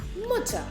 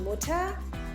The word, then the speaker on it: Mutter: In German, you would say Mutter. Mutter. Die Mutter. Here again, the pronunciation is Mutter. Not Mutter, but Mutter. Just like Bruder or Schwester.